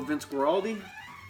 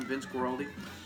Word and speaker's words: Vince Guaraldi: for more his stuff definitely let people know Vince Guaraldi hey that's how you say his name Vince Guaraldi this is the Vince Guaraldi trio I think